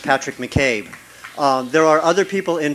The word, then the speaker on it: Patrick McCabe: name is Patrick McCabe that is spelled capital patr I seek a space capital M C capital C a B II pronounced Patrick McCabe there are other people